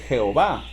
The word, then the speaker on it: Jehová: el nombre de él y nosotros lo pronunciamos Jehová Si usted prefiere pronunciarlo yahwe no hay ningún problema no nos vamos a pelear